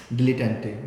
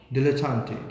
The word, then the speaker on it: dilettante: Okay, so आप pretender है ना, we have a pretender, dilettante.